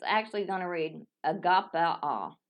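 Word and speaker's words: ἀγαπάω: So, it's actually going to read agapao. Agapeo. Agapeo. Agapao. That's how I was trying to pronounce it.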